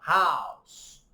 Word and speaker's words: house: Então, quando é OU, a gente fala ow, house.